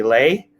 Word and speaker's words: Le: My other name is Lay, spells L-E, but pronounced Lay, as in legendary, as in legitimate, your best friend, and let's go.